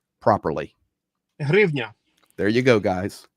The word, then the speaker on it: hryvnia: in the chat that asked that you would pronounce the Ukrainian currency name properly. Hryvnia. There you go, guys. Hryvnia.